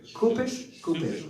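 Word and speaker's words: Cupich: Kupish, okay, thank you.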